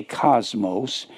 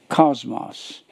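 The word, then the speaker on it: κόσμος: The O, the Omicron, is pronounced ah. The omega is always pronounced O.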